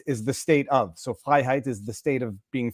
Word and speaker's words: Freiheit: It is phonetically Freiheit, perfect. In French, we just roll the R's. We go Freiheit, but Freiheit.